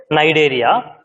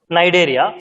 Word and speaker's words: Cnidaria: Here, okay, Cnidaria, C is silent. The first term, Coelenterata, the another term, Cnidaria, C is silent, you have to read it as Cnidaria.